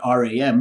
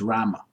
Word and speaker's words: Rama: so like in English when you read Ram you'd say Ram right but say I told you that you're cutting out half the sound you're cutting out half the sound of the last M you need to pronounce it fully so they'll say oh it's Rama okay that's the way Sanskrit